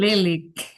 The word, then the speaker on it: Lilik: Or is it Lilac or Lilik? How do I pronounce it? Lilik. Lilik, okay. Yeah.